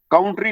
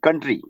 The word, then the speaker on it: country: Citizens of this कंट्री, काउंट्री नहीं, कंट्री, कंट्री।